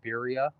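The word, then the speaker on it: birria: Bira, like bira tacos.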